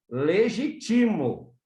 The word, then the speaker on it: legitimo: acento da palavra e vai ficar assim legitimo legítimo a sílaba tônica sai do Ge e passa para o Ti Legi tá porque eu